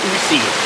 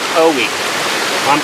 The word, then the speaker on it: Ocoee: the fact i think i was trying to say oocy but it's actually pronounced o we it's a very interestingly